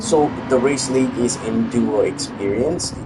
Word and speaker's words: EnduroXperience: So it's not EX experience, it's just X.